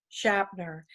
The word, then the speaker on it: Shapter: And I will like to introduce Christina Fernandez Shapter. It's spelled like chapter with an S.